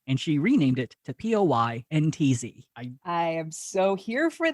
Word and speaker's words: Poyntz: So initially, it's the same pronunciation, but it was initially spelled Pointz. Nice Irish name. And she renamed it to Poyntz.